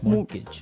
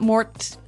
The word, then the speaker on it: mortgage: with a t yeah it has a t in it but you don't pronounce it you say mortgage morgage so not Mort mortgage not mortgage morgage